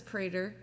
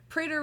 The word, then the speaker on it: Prader: Yes, this is Prader. Prader rhymes with don't be a hater.